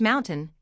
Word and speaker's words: MNTN: Ryan Reynolds company, Mntn Incorporated, pronounced Mountain, is now facing a major lawsuit.